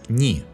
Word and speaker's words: не: When unstressed, the particle не is pronounced as ни.